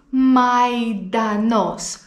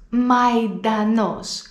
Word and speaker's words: μαϊντανός: Λοιπόν, εδώ έχουμε το αλφα γιώτα που ξέρεις ότι προφέρεται «ε», αλλά βλέπουμε πάνω στο γιώτα αυτές τις δύο τελείες που λέγονται διαλυτικά. Όταν λοιπόν υπάρχουν διαλυτικά πάνω στο γιώτα, τότε αυτό σημαίνει ότι πρέπει να προφέρουμε το αλφα και το γιώτα χωριστά. Αι, μαϊντανός, μαϊντανός. Και για το τέλος έχω